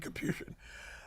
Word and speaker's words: Capuchin: There's two ways to pronounce it, Capuchin and Capuchin. But if you're around the priest, you say Capuchin, because it's very Italian.